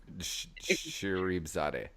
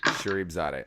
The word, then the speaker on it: Sharifzadeh: pronounce your last name it's pronounced English translation shereif Zade Shere Zade yeah exactly how it's spelled Shere Zade okay yeah awesome but